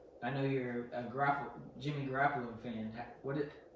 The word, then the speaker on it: Garoppolo: I know you're a Jimmy Garoppolo fan.